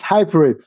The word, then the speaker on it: HYPERID: in the right way it's it's hybrid so it suggest to sound like hybrid and you just need to change or exchange a P with a d it's hybrid so um